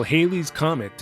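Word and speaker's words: Halley's Comet: I'm going to pronounce it Haley's Comet, by the way, which may not be technically correct, but that's the way I remember everyone pronouncing it when I was young.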